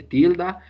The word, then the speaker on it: tilde: Tilde in English is tilde.